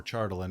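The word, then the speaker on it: Chardalyn: the form of a chardallian or chartland if you're if you're a fan of the actual pronunciation which i'm not um a dragon made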